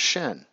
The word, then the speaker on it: shin: for the Hebrew Elvis it's actually pronounced Shin right same same pronunciation and if we take